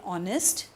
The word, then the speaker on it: honest: We saw earlier in honest, it sounded different because the H was silent.